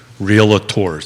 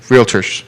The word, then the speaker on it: realtors: estate agents and and realators did i get that right it's only two work in progress real terms two syllables not three realtors sorry folks real estate